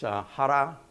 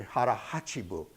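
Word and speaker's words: hara hachi bu: There's a term in Japanese it's hara. Actually, it's supposed to be hara hachibu, and it means eat until you're 80% full.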